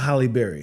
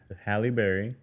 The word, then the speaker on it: Halle Berry: I know it's not Holly Berry. It's Hie. Hi. Halle Berry. And then hers is spelled differently.